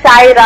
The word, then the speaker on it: सायरा: का शुक्र ठीक या मेरा नाम सारा नहीं सायरा है सायरा ए आई सायरा सायरा फौरन से नाम